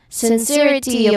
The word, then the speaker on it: sincerity: For example um ability no or um responsibility look at that flexibility sincerity opportunity all of them follow the same rhythm. Third syllable from the end is stressed.